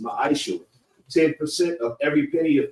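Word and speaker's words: מעשר: It means 10th in Hebrew and it's pronounced ma'aishu.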